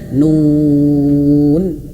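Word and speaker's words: ن: Jadi bukan hanya sekedar nun. Nah, tidak terputus suaranya tapi mengalir sedikit huruf nun itu ya. Nun gitu. Nun seperti itu, Ayah Bunda ya.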